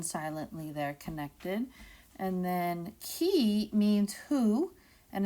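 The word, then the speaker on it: qui: there connected and then key means who and it's pronounced like a key and a door key a there's your a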